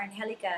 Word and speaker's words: Angelica: Yeah, they're like, is it Angelica or Angelica? It's Angelica.